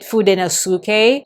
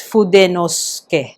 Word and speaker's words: Fudenosuke: other people pronounce it Fudenosuke. So again, I think it's because of the way English speakers pronounce it, but for the Japanese, again, it's pronounced syllabically, so it's Fudenosuke.